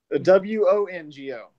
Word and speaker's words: Wongo: W-O-N-G-O. See? Okay. Think Wongo, Wango, the but with an O.